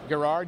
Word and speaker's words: Gerard: and Colors by Mitch Gerard Gerard yes it's a hard G he told me off